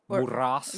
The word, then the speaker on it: Muras: And she's like, all the way from Newport Beach, Muras. I'm a bitch. It's Muras. Muras. Rhymes with the boss, bitch. Muras. No, yeah. So Gotta roll the R's though.